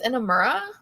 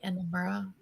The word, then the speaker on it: Inamura: Is this Inamura? Yes. Okay. Yoshiki Inamura.